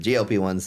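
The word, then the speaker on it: GLP-1: others that's appropriate word glp one's the way to say it you never know anymore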